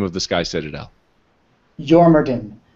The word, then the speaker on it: Jormungandr: Jormungandr. A lot of the Dwarven words have a J that is sort of a Y sound.